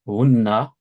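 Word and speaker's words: هُنَّ: Huna, fat, fatahna, Hunna, prononce bien le. Regarde, t'as oublié là, hein. C'est important, frère, ça. ah oui, shadda, Voilà. Hunna, comme ça, hein.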